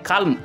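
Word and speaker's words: calm: উচ্চারণ করতে হবে তারপরে সি এ এল এম কাম হয়ে যাচ্ছে তো এখানে এল এর উচ্চারণটা বাদ হয়ে যাবে এখানে সি এম কাম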